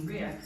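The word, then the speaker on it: riq: Banjuni and MJ are going to next play what you would call a tambourine, but what we call a rick, which is spelled R-I-Q or R-I-K, and sometimes the Q is doubled because why not?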